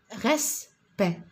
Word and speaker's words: respect: Nous avons respect. Respect. Alors, respect, nous avons E plus la consonne. Donc, on l'écrit ici, regardez, respect, respect, il y a le E, je le prononce E, respect, forteresse, regardez, E,